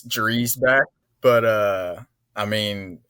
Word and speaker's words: Dreisbach: I was like no it's Dreback. He's like no it's actually Dbach.